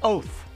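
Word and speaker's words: אות: And that is also a nice little Hebrew word, oath, like O-T-H if you spell it in English, which means likewise proofs or warnings or signals.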